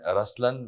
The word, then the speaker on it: Ruslaan: yeah so even in raslan when you say raslan also means the lion it's the attitude of am but the right pronunciation is rlan okay yeah there is